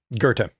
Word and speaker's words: Goethe: he goes through Dante, Milton, and is it pronounced Goethe? I've only ever seen it written. Goethe.